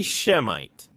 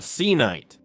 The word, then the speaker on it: Semite: Actually, the word Semite is a mistake in itself, at least in terms of its pronunciation and spelling. The word should be Shemite, not Cite.